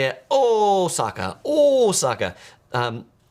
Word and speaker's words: Osaka: when I say it oh Saka oh Saka um the O is a long o and that's how they pronounce in Japan if you're taking the